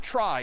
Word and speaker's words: trie: weird name and pronunciation short for retrieval pronounced try typically a try is